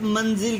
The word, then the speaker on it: منزل: ایک فلور کو ایک منزل کہتے ہیں، منزل لفظ نہیں ہوتا۔ پہلے پر زبر، دوسرا ساکن، سیکنڈ لاسٹ کے نیچے زیر۔ مسجد، مغرب، محمل، مجلس۔